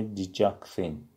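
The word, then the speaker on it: digoxin: Diuretics، vasodilators and digitals، دیورتیکا مدرها، ویزو دیلاتورها گشاد کننده عروق که پریلود کمتر بشه و دیجیتال داروهایی مثل دیجاکسین تلفظش میشه دیجاکسین.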